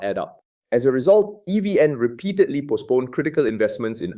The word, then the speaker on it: EVN: At the center of this tension is the state-owned electricity monopoly, Vietnam Electricity, known as EVN, pronounced as 3 individual letters, EVN.